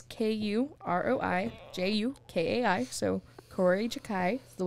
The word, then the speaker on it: Kuroi Jukai: Anyway, so basically this all started with a mystery novel called Kuroi Jukai. I don't know if I pronounced that right. It's K-U-R-O-I-J-U-K-A-I.